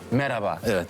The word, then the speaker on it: Merhaba: Merhaba is how you say hello.